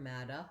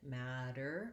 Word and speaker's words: matter: tendency to do more like another dialect of english like mata you might accidentally have a schwa there mata instead of matter or if it's hard for you to the r you might be overpronouncing it matter or mater try to stay light but still have your american r sound then in the word